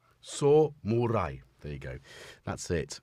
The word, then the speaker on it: samurai: synth Samurai of which I now know how to correctly pronounce Samurai which is s murai s murai there you go that's